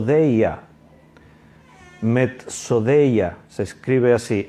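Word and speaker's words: μεθοδεία: la palabra griega es mets o de ella metz o de ella se escribe así m d s d e y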